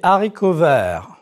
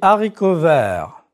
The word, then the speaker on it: haricots verts: Les haricots verts. Les hors d'œuvre. Liaison and elision are not used with this H. Prononcez, s'il vous plaît. Les haricots verts.